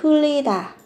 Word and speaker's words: 틀리다: Bạn có gốc của nó chính là từ 틀리다, phát âm thành âm L.